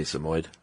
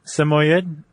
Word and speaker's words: Samoyed: It's not the easiest one just looking at it to pronounce. Would you say Samoyed?